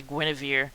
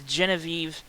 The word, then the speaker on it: Genevieve: is excuse me genevieve it's a weird pronunciation i was gonna say guinevere but it's genevive off uh in the